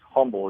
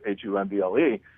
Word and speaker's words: Humble: called humble it looks like it should be pronounced humble it's h um ble humble and those areas are you're gonna be